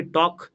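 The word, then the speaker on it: talk: ঠিক তেমনি টক, এল উচ্চারণ হয় না।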